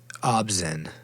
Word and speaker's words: ObZen: Obzen.